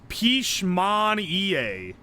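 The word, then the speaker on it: Pişmaniye: It's Pichman EA is how you say it.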